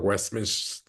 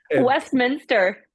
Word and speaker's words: Westminster: about your uh I'm gonna say it wrong westmin westmin the doger Westminster Westminster and I'm like oh my God it